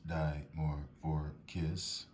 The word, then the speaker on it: Dimorphorchis: Okay, and what the Bibles say, Dimorphorchis, Vanda tribe, pronounced Dimorphorchis, Lowii Roth, 3 species, skipping on down to